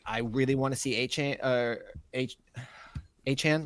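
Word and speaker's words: Achane: I really want to see Achan, right? Achan. That's how it's said now.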